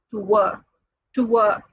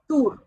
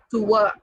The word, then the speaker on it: tour: This word is should be pronounced as tour, not as tour. Many say it's tour, but the actual pronunciation is tour.